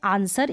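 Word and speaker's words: answer: ठीक है यह है आंसर इसका हिंदी में होता है उत्तर तो अब इसको वरना पढ़े वे आंसर अब यहां पर जो डब्लू है ना वह साइलेंट है आंसर में तो इसको कभी आंसर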